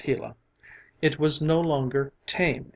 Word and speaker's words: Gila: hot Sun shone down on the Gila monster pronounced Gila it was no longer tame and gentle but